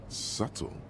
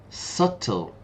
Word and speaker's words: subtle: subtle? Subtle. Notice the pronunciation, there's no B.